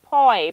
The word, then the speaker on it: poi: Oh, poi, pronounced like boy. But with the P, imagine the taste of wall paste.